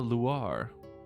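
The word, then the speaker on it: Loire: Laguna Luar. I'm assuming that's how you pronounce that. Kind of like noir, but with an L.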